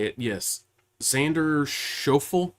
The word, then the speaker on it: Schauffele: Xander Schauffele? It's Schauffele.